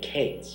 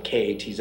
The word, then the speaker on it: Katz: out the name Benny Cates, and in Judaism, the last name K-A-T-Z is pronounced Katz, not Cates.